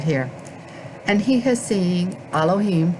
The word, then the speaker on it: Elohim: and he has seeing elohim remember the o is not pronounced as an o alim to abraham sarah woman